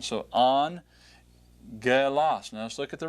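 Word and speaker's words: ἄγγελος: When you see the double gammas together, give that first gamma the N sound. All right, so angelos.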